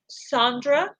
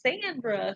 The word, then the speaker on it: Sandra: was like texas and they would always uh pronounce my name as uh sondra like it has a uh o in it and i'd be like no it's sandra from texas so anyway we didn't get to